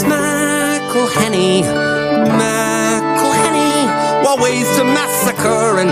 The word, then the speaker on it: McElhenney: It's McElhenney, what ways to massacre and mispronounce it, there are many. McElhenney.